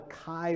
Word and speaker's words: Chi: But they're not pronounced that way, right? The chi is the ch, and the rho is the ro, right?